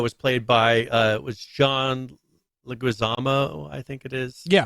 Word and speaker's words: Leguizamo: So the original Mario movie was Mario was played by was John Leguizamo, I think it is. Yeah, pronounced like that.